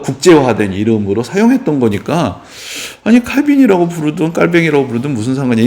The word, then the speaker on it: 칼빈: 칼빈의 이야기를 조금 더 이제 들려드리려고 하는데 요즘 칼빈이라고 하면은 사람들이 좀 안 좋아해요. 이게 왜냐하면 칼빈이 프랑스 사람인데 프랑스어로 이 사람 읽으면 깔뱅이라고 읽어야 돼서 요즘 좀 유식한 사람들은